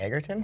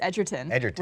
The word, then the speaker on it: Edgerton: get that name wrong it's not a Girton it's Edgerton really I guess singer